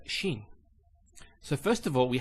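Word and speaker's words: شين: So Shin is pronounced as sh. So it's like when you tell somebody to be quiet, you say shh. That's the Shin.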